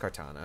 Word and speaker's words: Kartana: Pronounced Kartana, okay.